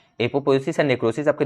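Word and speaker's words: apoptosis: एपोप्टोसिस आप समझ लो, लेकिन यहाँ पे टी साइलेंट है, ठीक है। अब पढ़िए, मैं अगर टी हटा के लिखूँ तो आप इसको पढ़िए एपोपोएसिस, ठीक है, तो यहाँ पे टी छुपा हुआ है पी के बाद, तो वही टी साइलेंट है यहाँ पे।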